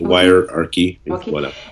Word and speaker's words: Wirearchy: vidment content de découvrir votre livre y key est-ce que je le prononce correctement oui wire ary et la prière question